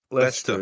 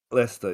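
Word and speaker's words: Leicester: L e That town, L e i c e s t e r. Lester, is it? Lester, yeah, thanks.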